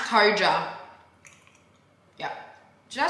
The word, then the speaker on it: KOJA: Pronounced KOJA.